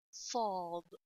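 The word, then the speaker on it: صاد: letter sheen, there is sad. See, sad is a big seen. Sa, saw. Okay? Sad is a big seen. When you pronounce seen deeply, you will get saw. When you pronounce sa deeply, you will get saw.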